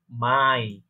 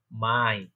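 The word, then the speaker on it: Mai: পরবর্তী হচ্ছে আমার পরবর্তী মাসের নাম হচ্ছে মাই, যেটা আমরা মে বলে থাকি, সেটাকে রয়েছে বলে কি মাই।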